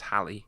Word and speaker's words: Halley: that way but apparently because it's got two L's it's Halle yeah that makes sense